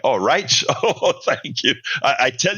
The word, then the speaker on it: Reich: His name is pronounced with a soft knot like the Third Reich. Oh, Reich?